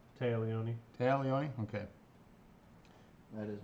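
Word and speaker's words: Téa Leoni: In Switch, please correct me because I am horrible pronunciations. Tia Leone? Taya Leone.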